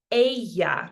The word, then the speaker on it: ella: El, ella. Try those first. El, ella. So we want that ya sound in the middle. It's not ella, it's ella. And usted is our next one. Okay, so él, ella, usted, es.